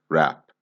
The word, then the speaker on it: wrap: all the time so this word has a cheeky silent letter in it so if you